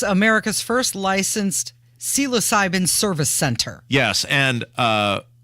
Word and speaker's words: psilocybin: can Now consume psychedelics it's America's first licensed psilocybin service center yes and uh magic mushrooms when